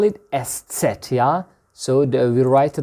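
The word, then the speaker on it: Eszett: beta beta in grikya uh we call it estset yeah so we write it like that let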